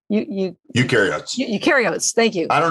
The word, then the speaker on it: eukaryotes: There's another type of cell that was growing called eukaryotes. Eukaryotes.